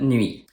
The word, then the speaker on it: nuit: The T at the end of nuit is also silent.